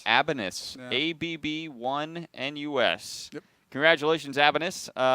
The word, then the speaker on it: ABB1NUS: How would you pronounce that? Abanus. Abanus.